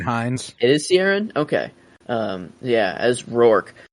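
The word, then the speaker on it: Ciarán: I I I think I say his first name wrong man Raider what Saron Hines it is sierin okay um yeah as roor um Ro what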